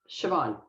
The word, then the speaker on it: Siobhan: name is spelled um it's irish and most native english speakers have a very hard time saying it it's actually much easier for spanish speakers um so it's just siobhan yeah very easy okay